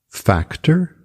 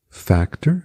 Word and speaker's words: factor: Factor, factor, que é fator, o A é como se fosse um E com acento, factor, factor.